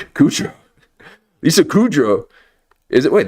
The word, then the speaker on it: Kudrow: Kudro.